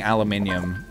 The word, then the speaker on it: aluminium: I'm sorry for anybody who I make uncomfortable with me saying aluminium, but that is just the way it's pronounced.